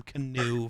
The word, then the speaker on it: Keanu: almost said love it I almost said canoe Neal which isn't right I know it's spelled Keanu but he definitely used to yell about people needed to call him canoe for whatever reason I